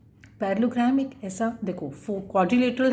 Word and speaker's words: parallelogram: पैरेललोग्राम, double L जो यूज़ हो रहा है दिस इज़ साइलेंट, उनको नहीं बोलते हम पैरेललोग्राम।